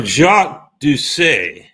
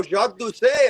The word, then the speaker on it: Jacques Doucet: So Jacques Doucet, is that how we would properly pronounce it, Jacques?